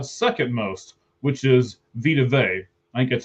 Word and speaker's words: Vea: most, which is Vita Vea. I think that's how you say his name, right? Vita Vea? Vita Vea. It's Vea. Oh, Vita Vea.